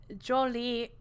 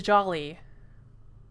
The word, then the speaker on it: Jolie: mispronouncing things so much cause jolie not the jolly i swear my brain